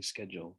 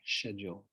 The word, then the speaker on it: schedule: Americans say schedule, British say schedule.